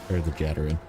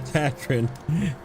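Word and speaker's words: Tatarin: hard region, and I'm sure people brought the Jatarin. The Tatrin.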